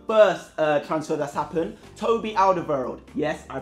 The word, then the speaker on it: Alderweireld: Toby Alderweireld. Yes, I pronounced it correctly.